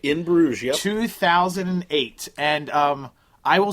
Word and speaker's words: Bruges: In Bruges, yep.